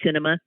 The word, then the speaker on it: Sinema: me look at me cinema isn't that weird her name is cinema like a movie she's in her no